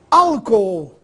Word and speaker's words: álcool: Álcool, essa divisão silábica é interessante. Al, co, ou. A sílaba tônica é a primeira, no caso a antepenúltima, sílaba tônica ao, agudo no a.